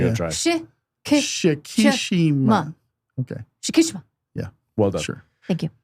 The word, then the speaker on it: Shikishima: Was someone- it was- Kichikima. I'm not even going to Shikishima. bother. Kichikima. Not even going to bother. Not even going to try. Shikishima. Okay. Shikishima.